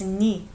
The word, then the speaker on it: 네: 네, it's written as 네, but it's pronounced as 니. Because 네 sounds like 네, which is my.